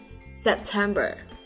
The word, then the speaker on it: September: 4 tháng cuối năm thì đều tuân theo quy luật là có 3 âm tiết và trọng âm nhấn vào âm tiết số 2 nhé. Tháng 9 này, September.